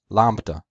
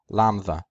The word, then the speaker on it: lambda: modern Greek it's pronounced lamba the only difference between Co and modern Greek is that in modern Greek there is no beta in the word Lambda now I want to